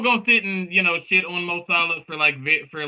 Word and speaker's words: Mo Salah: Nine at the top of the list, we got Mo Salah. Did I pronounce that right?